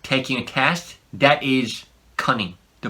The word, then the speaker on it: cunning: a test, that is cunning. The pronunciation is different. Cunning. Cunning. When there's two N's in one word, Koreans tend to pronounce it like all the N's in each syllable.